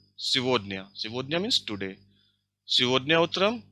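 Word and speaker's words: сегодня: It is pronounced like Sivodnya.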